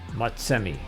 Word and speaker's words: Motsemme: name is spelled g a o but it's pronounced how msmi m o TS e m m e thank